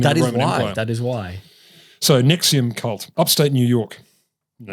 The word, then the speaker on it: NXIVM: nxivm cult which is pronounced Nexium like the famous anti-gastric reflux drug NX I VM so